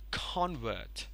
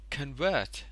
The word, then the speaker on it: convert: Okay, so this one will be pronounced as convert, but this one over here will be pronounced as convert.